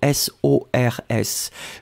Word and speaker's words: sors: So S-O-R-S. Je sors, you don't pronounce the final S.